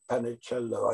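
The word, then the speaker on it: Panecillo: Panicello, I think it's the way you pronounce it.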